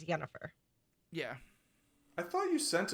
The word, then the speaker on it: Yennefer: of the name Jennifer which is the Polish pronunciation is yenifer so you say Jennifer and polish say yennefer yeah I thought you sent us something that